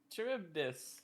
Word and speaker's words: Charybdis: I don't know how to pronounce this one. Charybdis. Charybdis.